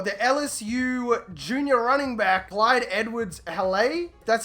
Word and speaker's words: Clyde Edwards-Helaire: At the end of season 4, the LSU junior running back, Clyde Edwards-Helaire.